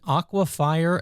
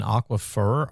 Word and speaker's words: aquifer: Can I Is this Is an Aquafire and an Aquifer, are those two different things? Did he just say it differently or am I saying it wrong as Aquifer? No, no. No, no. It's definitely aquifer.